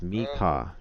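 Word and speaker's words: Meka: token um I know somebody's token yeah it's pronounced Mika got it me Mika m-e-k-a now he built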